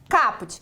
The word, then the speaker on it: caput: Caput, não é caput, viu? Muitas vezes a gente fala caput. Não, é caput. A forma correta da pronúncia é caput, que vem do latim, que quer dizer a cabeça.